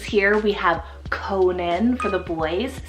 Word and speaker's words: Conan: then a couple C names here we have Conan for the boys c-o-n-a-n Conan absolutely incredibly handsome and this one means